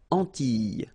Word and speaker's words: Antilles: So here it's quite interesting because, well, you've got this E and then double L, S. Okay? So final S and E, really you don't pronounce them. So you get this E sound.